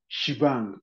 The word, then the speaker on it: shebang: correct as Shang okay this ash exclamation is pronounced as shibang okay so how you